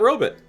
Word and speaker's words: robot: They pronounce robot robbit.